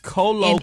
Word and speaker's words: colloquially: If you're saying queerly, you should have given him a W. Colloquially.